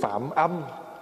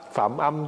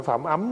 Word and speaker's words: phạm âm: về sau được tướng phạm âm. Phạm âm chứ không phải phạm ấm nha. Đó, thí dụ chữ vậy. Mà nếu mà người không biết thì cứ đọc là phạm ấm, còn mình biết thì mình đọc là phạm âm.